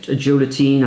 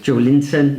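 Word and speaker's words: Joelinton: They've got Joe Latine, I think it was... Joe Linton. Joe Linton, that's how you pronounce it.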